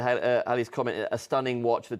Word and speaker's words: Halley: The Comet was discovered by Edmund Halley, and it's actually, you pronounce it Halley apparently.